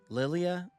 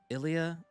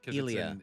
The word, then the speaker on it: Ilia: Lilia. Ilia. Uh uh. Ilia. Yeah, aren't you? Ilia.